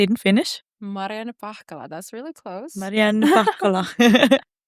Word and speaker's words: Marianna Pahkala: Mariana Pakala.